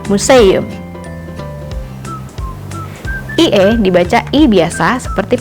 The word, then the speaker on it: museum: EU menyerupai ejaan EU pada bahasa Sunda, contohnya pada kata museum.